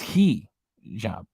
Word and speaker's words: hijab: you so much well I was afraid even to say hijab because I didn't know if I was saying it right in Bali YouTube reactions chicken where's your name belly chicken reaction just told me that it's key job so I'm afraid to